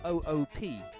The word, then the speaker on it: oop: And it's spelled O-O-P. It goes oop.